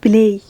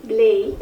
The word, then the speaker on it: play: كلمة بلاي. play. برافو. زي مثلا كده كلمة play، النطق الحقيقي play مش بلاي.